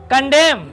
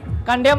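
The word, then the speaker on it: condemn: यहां पर क्या साइलेंट है? यन। यहां पर कालम माने पृष्ठ भाग होता है। कंडेम कंडेम माने यू आर कंडेम मी।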